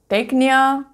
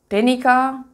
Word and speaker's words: Teknia: It is Teknia, not Tenica. So Teknia.